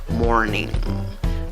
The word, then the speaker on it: morning: es una y larga cuál es la sílaba que lleva la fuerza de voz la primera sílaba contando de izquierda a derecha como pronuncia la palabra morning morning acaba en en la mezcla de la n con la g ese es el sonido de la última consonante de esta palabra la palabra número cinco